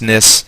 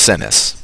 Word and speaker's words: Sinis: I guess it's pronounced Snis. Pauses, the soft chiming of her beads filling the air with gentle music as they all wait for his response. And he says, I. Oh, it's pronounced Sinis.